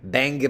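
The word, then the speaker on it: Bangor: Oh, I pronounced it wrong. It's Banga, Maine.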